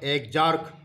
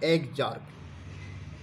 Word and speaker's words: exarch: इस कंडीशन को कहते हैं एग्जार्क। आप स्पेलिंग पर ध्यान देना, EXARCH, एग्जार्क। इसे हम कहते हैं एक्जार्क।